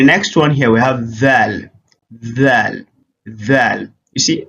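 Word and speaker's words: ث: So in this one, it is pronounced thing. That's what we have, like in the case of Tha in Arabic language, right?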